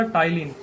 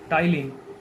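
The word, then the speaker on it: ptyalin: तो कौन कौन से एंजाइम पाए जाते हैं, तो एक हो गया आपका टाइलिन, ये पी लिखा हुआ है दोस्तों, तो ये पी साइलेंट है यहाँ पे, टाइलिन, PTYLIN, टाइलिन और लाइसोजाइम, ये 2 प्रकार के एंजाइम्स निकलते हैं।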